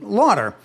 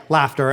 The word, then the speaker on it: Laughter: And so I went with a pronunciation Lauder. And Lauder sounded much better than Fuck Up. And so life went on, and then I got married. And my wife, who took on my name, thought that I was completely psychotic for using the pronunciation Lauder when it was spelled Laughter.